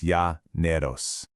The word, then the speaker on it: Llaneros: And the incredibly resilient cowboys who call this wild environment home, well, they're the Llaneros, pronounced Yah Neros.